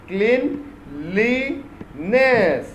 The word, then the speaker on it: cleanliness: ये देखो वर्ड कितना अच्छा वर्ड है ना, cleanliness. alright, 3 syllables है। okay, इसको कैसे प्रोनाउंस करते हैं? CLEN clean, ये हो गया clean। LI ली हो गया। NESS ness, cleanliness। okay, we must develop good habits of cleanliness।